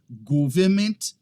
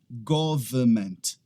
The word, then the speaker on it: government: Uma pessoa ou fecha o som e fala government, ou então ela pronuncia aquele N ali no final, falando government. Não, é simplesmente government. Se você tiver em inglês britânico, você não vai pronunciar aquele R ali no meio, government. Se você tiver em inglês americano, você vai falar government, tá?